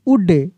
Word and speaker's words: would: L के साथ D रहेगा तब भी L साइलेंट रहेगा। COULD क्या पढ़ेंगे कुड, COULD कुड। WOULD उड, क्या पढ़ेंगे यहाँ पे उड।